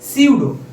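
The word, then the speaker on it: pseudo: 2 number, আসলে বাংলা নামটা দেখলে, এই নামটা দেখলে অনেকে উচ্চারণটা, আমিও তোমাদের মতো ইন্ডিয়া থাকতে সুডো কথাটা উল্লেখ করতাম, আসলে সুডো না, এটার নাম উচ্চারণটা সুন্দরভাবে হবে হচ্ছে সিউডো।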